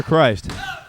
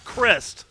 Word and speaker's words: Crist: Is it Crist or Christ? It's Crist.